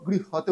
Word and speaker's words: গৃহ্যতে: Actually আমরা যখন continue করবো গৃহতে উচ্চারণ হবে, আর যদি পুরো উচ্চারণটা ভেঙে ক্লিয়ার করতে হয় তাহলে জফলার জায়গায় একটা ইয়র উচ্চারণ আসবে, গৃহ্যতে।